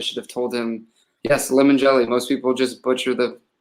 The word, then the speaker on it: Limongelli: like, I probably should have told him, yes, Limongelli. Most people just butcher the heck out of it. So what's the worst that someone has butchered it? Probably Limongelli.